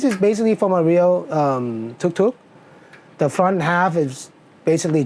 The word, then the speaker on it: tuk-tuk: Yeah, this is in Japanese is pronounced as a tuku tuku, but in Thailand it's like tuk tuk.